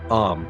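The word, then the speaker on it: Eyam: Am, pronounced simply like M, is quiet and self-sufficient.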